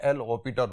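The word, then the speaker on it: L'Hôpital: अगर 0/0 फॉर्म आए, जिन क्वेश्चन के अंदर आएगी, उसको हम इस मेथड से सॉल्व करेंगे बाय एल हॉपिटर रूल। ऐसे इसके अंदर साइलेंट है, एल हॉपिटर रूल।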